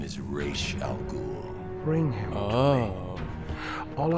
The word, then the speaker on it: Ra's al Ghul: You're not worthy to speak of the great Ra's al Ghul! I like that they actually pronounce his name right.